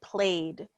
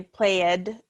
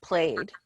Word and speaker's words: played: correct so played so when we add the e d we don't add an extra simple syllable we just say played so we don't say played is just played all right Thank You